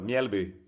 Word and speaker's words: Mjällby: First of all, tell me how to pronounce Mjällby properly. Oh, you did pretty well. Mjällby.